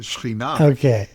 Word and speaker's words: Shekhinah: The Shekhinah, that's how it's pronounced in modern Hebrew. The Shekhinah is the feminine divine.